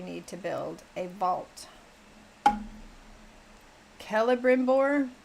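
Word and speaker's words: Celebrimbor: Kellbimbbor, not Cella Brimbbor. Kella with K.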